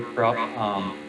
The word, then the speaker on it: Kropf: My name is Kropf, pronounced like K-R-U-P, if you will. The F is silent at the end, so I know that's mispronounced a little bit.